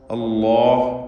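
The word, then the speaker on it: الله: അലല്ലാഹ്, അല്ലാഹ് എന്ന ശബ്ദത്തിൽ ലാമാണ് ഉച്ചരിക്കുന്നത് എന്നത് പ്രത്യേകം ശ്രദ്ധിക്കേണ്ടതാണ്. ഒരു കാരണവശാലും നാവിൻ്റെ മുൻവശവും പല്ലും ചേർത്തുകൊണ്ട് ഉച്ചരിക്കരുത്. അങ്ങനെ തെറ്റായി പലരും ഉച്ചരിക്കാറുണ്ട്. ലാം അവിടെ നിന്നല്ലല്ലോ ഉച്ചരിക്കുക. ലാമിൻ്റെ മഖ്റജിൽ നിന്ന് തന്നെ ഇസ്മുൽ ജലാലയുടെ ഉച്ചാരണവും വരണം. അഥവാ ലാമിന് തഫ്ഖീം വരുന്നു എന്ന വ്യത്യാസം മാത്രമേ ഉള്ളൂ. അലല്ലാഹ് എന്ന് ലാമിൻ്റെ മഖ്റജിൽ നിന്ന് തന്നെ ഉച്ചരിക്കുക. അലല്ലാഹ്.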